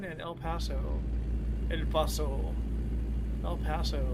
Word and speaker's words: El Paso: El Paso is how it's pronounced.